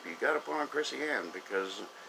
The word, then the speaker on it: Chrissy Ann: about tonight is the Chrissy Ann Show. It is spelled Krisi, capital A-N-N. Chrissy Ann Show.